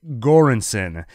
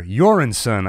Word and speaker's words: Göransson: saying his name Ludwig göransson oh no I wrote down the pronunciation here Joran son I believe awesome score it has